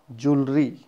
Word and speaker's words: jewelry: Next word is jewelry, not jewelry. Jewelry. It is also we pronounce jewel, not jewel. It's the jewel.